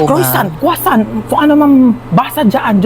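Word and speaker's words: croissant: Croisant daw. Croisant. Ah quasan po. Croisant. Kwasan.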